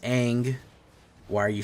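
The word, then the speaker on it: Aang: Ang swift seavor. It's pronounced ang. By the way, I know a lot of you people will be like, "No, it's ang.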